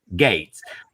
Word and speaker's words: Gaetz: Liz Cheney, and then Matt Gaetz, Gates, or whatever the fuck his name is. How do you say it? Gates.